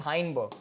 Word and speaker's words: Heisenberg: चलो, तो यहाँ पे आएगा तुम्हारा हाइसेनबर्ग uncertainty principle. Actual pronunciation is हाइनबर्ग, ठीक है, एक्चुअल प्रोनाउंसिएशन इज हाइनबर्ग, ठीक है, करेक्ट प्रोनाउंसिएशन इज हाइनबर्ग, ठीक है.